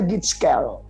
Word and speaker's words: Gitskel: Yang kedua, kan dari GHIJKL. Panggilnya Gitskel.